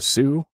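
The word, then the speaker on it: Soo: the way to the Sue and yeah in Michigan we call it the Sue oo because nobody's spelling out Salt St Marie uh so it's t h s o o the Sue uh good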